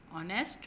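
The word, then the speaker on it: honest: ऑनेस्ट में H silent है, ऑनेस्ट, ओनेस्ट होता है, ओनेस्ट नहीं होता, ठीक है। एच इसमें साइलेंट है।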